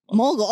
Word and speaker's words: Mogle: so is it Mowgli mow how do you pronounce it mogul right or no mul okay okay so he was pronounced it right